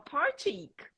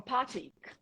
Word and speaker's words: Partick: E aí, assim, você pronuncia de uma forma, por exemplo, tem um ponto lá, uma estação que é Partick, né? Aí o inglês americano vai falar Partick. Lá eles falam Partick.